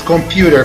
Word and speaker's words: computer: Ao pronunciarmos computer como se escreve, diríamos computer. Inserir o som Y nos permite pronunciar com mais musicalidade.